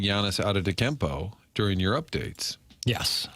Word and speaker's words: Antetokounmpo: And you got props yesterday for saying Giannis Antetokounmpo during your updates. Yes, Antetokounmpo. Martin. Well, I got praised for pronouncing it correctly, and you just pronounced it incorrectly.